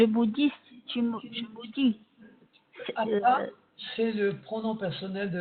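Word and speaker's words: אתה: Vous constatez également que le premier mot du verset est avec un aïn et le 3e mot avec un aleph et se prononce ata, qui veut dire à présent. Tandis que ata, c'est le pronom personnel évidemment de la deuxième personne.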